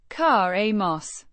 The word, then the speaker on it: caemos: Pronoun said. Kah-eh-mos. With a soft sound and the stress on the first syllable. The before the Mos is a schwa sound.